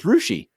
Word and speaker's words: Russia: Melbourne and there's Melbourne it's like in Ohio when I lived there there was r-u-s-s-i-a which clearly is Russia but in Ohio it's rushi and I just I just